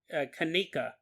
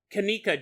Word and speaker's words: Kenneka: I was mispronouncing her name unfortunately is Kenneka Jenkins. Kenneka Jenkins.